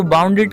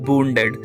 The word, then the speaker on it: wounded: कुछ लोग इसको bounded कहते हैं. The correct pronunciation of this word is wounded.